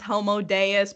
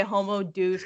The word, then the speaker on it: Homo Deus: book too it's called homo deuce and like it it technically is pronounced homo Deus but I say homo douche because it's a clear